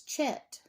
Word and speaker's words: Chet: at it and you say, though, it's Chet. Well, Hanukkah is the same way. A lot of people say Chanukah, because sometimes the C is added in front of the H. And we don't say it like ch in English, or they don't say